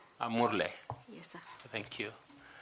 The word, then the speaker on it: Amurle: You will teach us how to pronounce it. Amurle. Amurle.